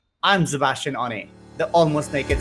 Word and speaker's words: Szebastian: media using my name sebastian on a and sebastian begins with a silent s and a very loud scene it is however requested